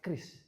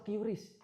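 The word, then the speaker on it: QRIS: Kris atau curis? Kris. Ayo. Kris. Enggak pakai curis gitu ya. Oh iya, karena kemarin ada itu konten-konten kan ya. Saya juga melihat konten dari Gubernur Bank Indonesia bahwasanya yang pelafalan yang benar adalah Kris. Walaupun kadang-kadang kita soksok Inggris gitu ya, curis bisa bayar pakai curies dan sebagainya gitu.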